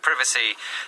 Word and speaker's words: privacy: this word is that, how do you say it? I say privacy. So do I. Why is that? Because we're British. Exactly right. So people from North America in particular would more likely say privacy.